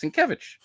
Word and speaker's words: Sienkiewicz: Yeah, it's Sienkiewicz. What'd you say?